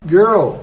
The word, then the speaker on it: girl: na questão do Word o l ele fica ali meio oculto você não vai fazer o l como a gente faz no português então você vai falar